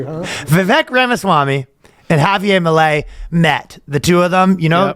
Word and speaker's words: Milei: Javier Milei. Yeah, Javier Milei. Okay. Yeah. So Vivek Ramaswamy and Javier Milei. Damn, you're just throwing all the tough ones today, huh? Vivek Ramaswamy and Javier Milei met.